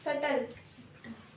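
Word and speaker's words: subtle: yes jealous जलसी okay सटल डी ए B silent ठीक है एब्सस ए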